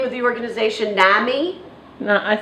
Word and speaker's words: NAMI: of her um pathological extreme how do you pronounce the name of the organization Nami no I say Nami but Nami Nami is